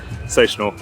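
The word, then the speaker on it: CineSational: The Sensational show, which yes, that is how it's said. I've done the homework. It's Sensational.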